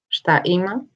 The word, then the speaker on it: šta ima: Šta ima?